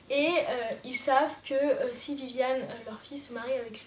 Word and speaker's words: Vivian: La famille de Viviane, mais ça s'écrit Vivian, on va l'appeler Viviane. La famille de Viviane, elle